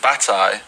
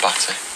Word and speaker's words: Bataille: Bataille, and you pronounce it wrong, but it's Batty.